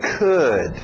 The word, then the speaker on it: could: Mesmo som de good, could, okay?